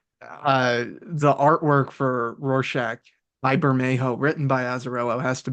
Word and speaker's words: Bermejo: Because I think his Bermejo, family is either Mexican or like Central American in origin. So I think that's how you pronounce his name. Bermejo, Bermejo.